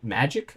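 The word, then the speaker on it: Magik: Next up, we got Magic, I think is her name. I don't actually know how to pronounce it. It has the K, so I think it's just Magic, but you never know.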